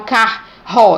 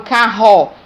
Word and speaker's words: carro: Quando eu pronuncio essa palavra, eu não falo carro, eu falo carro. Então, é o som Re, um único som.